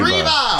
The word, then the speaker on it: Triva: Trine? Triva. Triva. Sorry. Rhymes with diva.